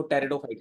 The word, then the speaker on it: टेरिडोफाइट्स: फिर आता है टेरिडोफाइट्स, यहाँ पे पी जो है साइलेंट है बच्चों, इसको टेरिडोफाइट्स बोला जाएगा।